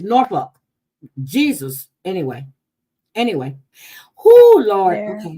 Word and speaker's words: Norfolk: They don't pronounce it Norfolk. It's Norfolk.